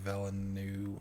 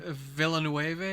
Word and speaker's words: Villeneuve: I'm gonna torture his last name, Villeneuve. How do you pronounce his last name? Villeneuve, I think.